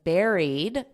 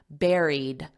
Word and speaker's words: buried: they believe was buried notice this pronunciation don't look at the spelling because it doesn't have this sound it's the same as a strawberry Berry Airy buried and then you just add a d at the end Buried buried was buried